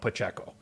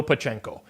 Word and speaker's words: Pacheco: I'm smirking at the pronunciation of Pacheco because there's no n there's no pachenko pachenko is like some